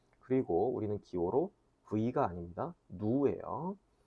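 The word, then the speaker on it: ν: 누예요. 자, 누라고 하는 기호를 쓰는데 발음은 누 길게 발음하는 식으로 발음하시면 됩니다.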